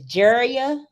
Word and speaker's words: Jeria: got over there okay i hope i'm saying her name right but it says jeria that's right you did it that's crazy you're the first person nobody never say her name right oh good i'm glad